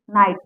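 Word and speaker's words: knight: पर के साइलेंट हुआ जैसे यहां हुआ के एन आई जी एच टी नाइट इसको के एन आई जी एच टी तो है नाइट तो पढ़ा जाता है लेकिन यहां पर के साइलेंट है इसका मतलब होता है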